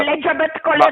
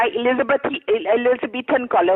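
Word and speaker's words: Elizabethan collar: एलिजाबेथ कॉलर नहीं होता, एलिजाबेथन कॉलर होता है. आपको तो प्रोनाउंस करना भी नहीं आता.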